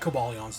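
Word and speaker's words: Cobalion: it um yeah again i like kabalyan's design i don't know if i'm pronouncing it correct because it's cobalt all right yeah it's come it comes from the root cobalt and i'm sure the i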